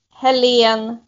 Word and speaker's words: Helene: Helene like Helen, but Helene. Helene.